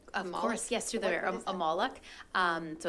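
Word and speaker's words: Molok: can you just expand accept what how you pronounce it of course yes to the amalek um so it's m-o-l-o-c-k they became quite popular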